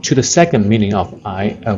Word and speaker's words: 挨: the second meaning of I when you pronounce this I uh the second tone it has three meanings